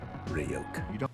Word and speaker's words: Ryuk: Don't trust Ryuk. Hey, kid. It's pronounced Ryuk.